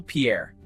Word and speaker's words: Pierre: Next, South Dakota, SD, Capital Pierre. Fun fact, though named for a Frenchman, Pierre Shuto Jr., This US state capital is actually pronounced pier.